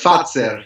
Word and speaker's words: Fazer: Is it Farzer? It's pronounced Fatser, yeah, Fatzer.